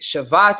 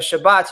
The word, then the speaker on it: Shabbat: spelled the same but the shabat is with the V sound and the Shabbat noun the day of Shabbat y Shabbat Shabbat is is with the B sound has the thees now